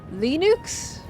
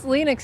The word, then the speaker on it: Linux: someone asked Jim well where does it originate from Canada it's lenux because of the name of its creator lenux lenux it's such